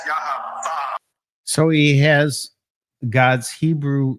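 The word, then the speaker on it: יה: And the proper pronunciation of that is Yah.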